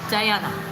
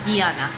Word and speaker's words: Diana: Oh, it's spelled Diana. So in Georgia, in Russia, they would call me Diana. Diana. But in English, yeah, I like Diana better.